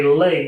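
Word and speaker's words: lei: thank you everybody late so a lay is the flower necklace from hawaii got it um and yeah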